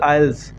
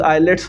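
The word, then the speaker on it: IELTS: बहुत सारे मैं इंस्ट्रक्टर्स देखता हूँ, मैं नाम नहीं लूँगा, लेकिन आइल्स, इट्स प्रोनाउंसिएशन इज़ आइल्स, लोग आइलेट्स बोलते हैं।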